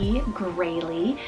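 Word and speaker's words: Graelie: We then have Grayley, spelled G-R-A-E-L-I-E, Grayley.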